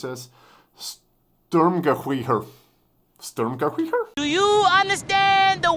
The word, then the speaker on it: Sturmgewehr: Reason being is that SG stands for, how do you pronounce this? Sturmgewehr.